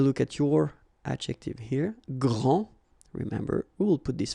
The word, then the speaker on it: grand: Okay, so phonetically what you can hear is that this first form here for the masculine, grand, so you don't pronounce the final D, will be exactly the same as the plural form for the masculine, grand.